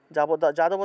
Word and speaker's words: যাদব: এভাবে তারপরে বিজ্ঞান বিজ্ঞান জ্ঞানী জ্ঞানী তারপরে যাদব যাদব থাকলে উচ্চারণটা হবে ইয়াদব ইয়াদব যোশদা যোশদা দেবস্য দেবস্য